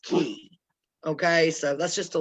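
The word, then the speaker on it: Caye: or half moon k it's half moon key so it's pronounced key okay so that's just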